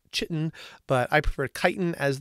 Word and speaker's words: chitin: made up of a specific term called chitin CH itin sometimes you'll see it pronounced chitin but I prefer chitin as the pronunciation and